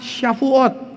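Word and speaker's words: שבועות: Huruf W itu dalam alfabet Ibrani itu SH. Kata shalom juga dimulai dengan tulisan itu tuh jadi shalom. Nah, ini syafuat. Coba katakan sama-sama. Syafuat.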